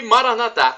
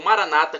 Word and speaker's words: Maranatá: E Maranatá, como dizemos nós católicos, ou Maranata, como dizem nossos irmãos separados, os evangélicos ou protestantes. Não importa a pronúncia, nós somos todos irmãos também, evangélicos e católicos.